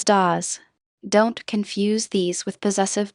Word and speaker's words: das: Pronounce das as das.